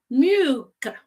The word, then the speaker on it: mjuka: Mjuka. So usually in this kind of word, I discover that the yeah is silent. So it's like mjuka, soft.